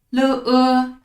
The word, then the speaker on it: 了: 今天的第一个字了的上边没有声调，是轻声，轻声要读的轻而短。